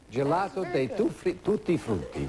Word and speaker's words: gelato dei tutti frutti: Is that how you say it, Joe? How do you say it? Excellent. Gelato dei tutti frutti.